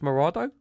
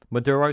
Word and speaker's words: Maduro: They want Nicholas Maro, Maduro, sorry, Maduro, going to pronounce his name properly.